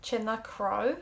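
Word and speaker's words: tine chnámh: You might be wondering why I said like C or cr instead of cna. So in the Ulster dialect and other Irish speakers as well can do this, pronounce CN like C-or.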